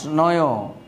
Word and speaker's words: নঞ্: হলো নয় তৎপুরুষ সমাস নয় এটাকে অনেকে নঞ্চু বলে থাকে এটা আসলে নঞ্চু না এর উত্তর হবে এর উচ্চারণ হবে নয় আমরা যখন ব্যঞ্জন বর্ণ